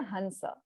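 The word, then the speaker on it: हंस: They won't know what a hamsa is until you say hansa. So in Hindi, it is, you know, pronounced in that manner, but in Sanskrit, it is amsha, right?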